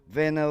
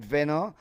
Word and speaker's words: Vena: Vena will get not Dwight Veno, it's Vena. That one is spelled with double ne. I think Dwight Veno is spent with O R.